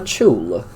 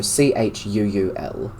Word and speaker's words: Chuul: this is what they call a chul. So Chuul.